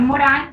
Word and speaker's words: Morin: Es una frase de Edgar Morán, se pronuncia Morin, se escribe Morin, pero se pronuncia Morán, Edgar Morán.